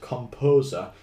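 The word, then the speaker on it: KompoZer: that I really recommend called Composer, but it's spelt K-O-M-P-O-Z-E-R.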